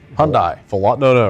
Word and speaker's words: Hyundai: Hyundai.